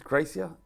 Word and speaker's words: Gracia: It's unconventional, and I wouldn't be surprised if it's Gracia. Is that how you pronounce it? Gracia, yeah.